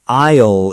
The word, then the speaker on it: aisle: The S is silent, like the word island. Exactly like island. Very good, Jake. So an aisle is the path between the shelves?